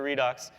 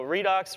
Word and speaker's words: Redox: So Redux reduction oxidation. It also kind of rhymes with Unix and Linux.